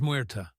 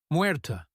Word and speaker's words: Muerta: My name is Muerta. She accented the syllables evenly. Muerta, he repeated. Muerta. He rolled the ER slightly, as she had done.